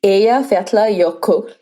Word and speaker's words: Eyjafjallajökull: So after the 12th attempt at me pronouncing this word, there was a volcano that erupted in 2010. It was called Eyjafjallajökull.